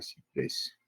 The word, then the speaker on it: ciprés: Igual en la palabra ciprés. Termina en S, es una palabra aguda, ya tiene su tilde ahí.